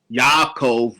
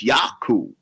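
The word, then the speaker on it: יעקב: them spoke English in modern Hebrew it is yaakov but they didn't speak modernist readily Hebrew as well the biblical named the Semitic name the proper pronunciation is yaku and so it is a fact that yaku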